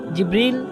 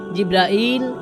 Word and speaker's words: জিব্রিল: জিব্রিল, জিব্রাইল, জিব্রাইল, জিব্রাইল, জিব্রিল, এই 5 ভাবে তার নাম উচ্চারণ করা হয়।